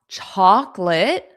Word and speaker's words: chocolate: You do not hear that O in the middle. Make sure you don't pronounce that. Chocolate. Chocolate. Now, that C between the two O's, that's pronounced as a K sound. So, we go directly from the K to the L.